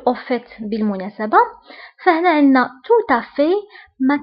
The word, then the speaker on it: tout à fait: fait بالمناسبة، فهنا عندنا tout à fait ما كنطقوش لا لتر تي اللي كاينه في آخر الكلمة. فانتبهوا جيدا. En fait. Au fait. Tout à fait. Tout à fait. هنا التي ما كنطقوهاش.